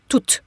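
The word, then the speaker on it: tout: iCal function of two it's going to be pronounced to okay now we talked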